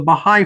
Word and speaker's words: Baha'i: Did I pronounce the name of your religion correctly? Yes, sir. It's the Baha'i faith.